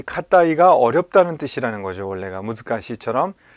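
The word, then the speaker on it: 難い: 자, 이 카타이라는 한자가 있습니다. 자, 이거를 우리가 무즈카시라고 읽게 됩니다. 무즈카시. 그런데 지금 자, 이렇게 쓰는 경우에는 니꾸이라고도 읽고 카타이라고도 읽습니다. 카타이, 좀 글씨가 잘 안 보이시죠? 카타이라고도 읽고 니꾸이라고도 읽는다는 거예요. 자, 뭐 타베 니꾸이 할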